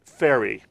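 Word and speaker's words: Fairrie: I want to make sure I get the name correct, so you'll help me pronounce. The director is Laura Ferry. Ferry.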